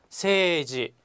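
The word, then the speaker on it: 政治: 세지, 세이지라고 써서 읽을 땐 세지라고 있는데요.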